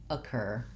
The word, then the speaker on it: occur: Occur also has second syllable stress, and so that letter O says the schwa sound. And I'll write the cur with a K-E-R. So it just has a tense American R in the second syllable.